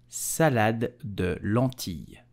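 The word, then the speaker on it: salade de lentilles: So how do you pronounce it correctly in French? You will say salade de lentille.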